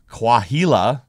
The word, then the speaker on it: Coahuila: But for one Mexican couple, a hut wedged below a 130-foot boulder in Coahuila, I probably pronounced that name wrong, I don't think so. Mexico, The H is silence.